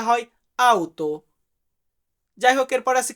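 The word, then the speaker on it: auto: গাড়ির ক্ষেত্রে আমরা বলি লাউতো বাট সঠিক গাড়ির উচ্চারণটা হয় আউতো যাই হোক এরপর আছে কি মাছ মাছকে আমরা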